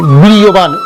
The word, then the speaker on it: বীর্যবান: বীর্যবান 29 তে জয় আছে, 29 তে জয়ের উচ্চারণ ইয়া করবো এবং 29 তে জয়ের উপরে রেপ আছে, সেজন্য এটা বীর্যবান।